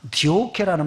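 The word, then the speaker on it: διώκω: 이것을 헬라어 성경에 보니까 디오케라는 말로 발음을 하는데 이것은 적극적으로 따라 붙는 걸 말합니다.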